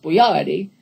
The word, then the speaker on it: Boyardee: He didn't spell his name this way, but he spelled it Boyardee so that everybody would know how to pronounce it. He pronounced it Chef Boyardee.